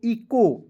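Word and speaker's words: echo: से देख रहे हैं ई सी एच ओ तो इसे इचो नहीं पढ़ना है क्या पढ़ना है दोस्तों ई को ई लिख दीजिएगा सी एच ओ का देखिए सी एच का उच्चारण यहां पे क के रूप में करेंगे ओ का उच्चारण एक पाई पर एक-एक के रूप में कर लेंगे तो क्या हो जाएगा दोस्तों इको उसके बाद वी आई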